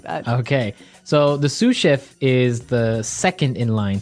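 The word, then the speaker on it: sous chef: So the s is silent because it's like a French word. Yeah. Something like that. Okay. So the sue chef is the second in line to the head chef.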